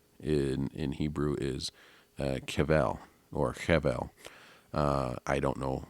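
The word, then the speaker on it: חבל: The word for cord in Hebrew is kevel or chevel. I don't know. I don't pronounce Hebrew, but it's kevel. It's spelled like chevel, Chevel.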